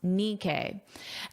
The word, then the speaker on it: Nikkei: I listened to the pronunciation and now I know it's pronounced Nikkei.